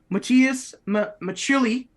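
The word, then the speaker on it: Matias Maccelli: But Matthias, hold on, I should say how it's pronounced here. Matthias Machili is how it's pronounced.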